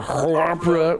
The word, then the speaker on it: Hrpra: That's what it's spelled like on the screen. It's HRPRA. There's a vowel and it's at the end. It's just a guttural sound you choke up out of your throat.